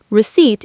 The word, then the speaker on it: receipt: Receipt is receipt. Silent P.